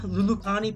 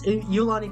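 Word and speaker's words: Iolani: This is um how do I pronounce it again? Lului Palace, I think. Let me let me pull that up. Um um Eulani Eulani Palace. That's Eulani Palace.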